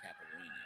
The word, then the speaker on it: caipirinha: You could tell them probably better than me what exactly is in a caipirinha, or what is a caipirinha.